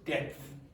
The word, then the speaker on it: depth: Okay, this is depth. Depth. Depth. Now, if you were an Irish person, you might say depth. Depth. It's like But you do pronounce the P.